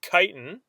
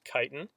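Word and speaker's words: chitin: okay another type of structural polysaccharide is called kiten that's how that word is pronounced I see people who like read the word and then they'll be like what's chitt I'm like no it's it's actually called kiten uh it is a structural polysaccharide uh arthropods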